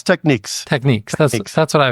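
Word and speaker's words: Technics: brand that has been around forever is it pronounced technices techniques it's techniques techniques that's that's what I was thinking so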